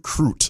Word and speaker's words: Crute: So the details on this young man, his name is Jimmy the Brute Crute. I hope I pronounced his last name right because it rhymes with brute.